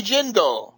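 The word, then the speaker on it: Jindal: Senate uh Senator Kirk Bobby jindel rhymes with Swindle uh as you know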